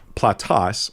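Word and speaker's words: πλατύς: He says that um platas I I'm going to pronounce it the way I was taught Greek.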